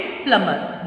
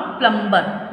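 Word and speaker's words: plumber: Land of 5 reverse, Haridwar, Hindi दिवस, microscope and प्लमर। येस, इट is pronounced प्लमर, नॉट प्लम्बर।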